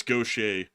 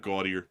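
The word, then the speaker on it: Gautier: That's Gaucher. It's not Gaudier. You would think it's Gaudier. But it's Gaucher.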